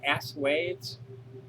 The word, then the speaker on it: assuage: Assuage? What's the proper pronunciation for ASSUAGE? Assuage, I think it is. Oh, it's a French word.